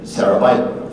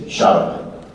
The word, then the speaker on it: Szarabajka: But it's Szarabajka. If you want to be very Polish about it, you say Szarabajka, you know, because it means gray fairy tale.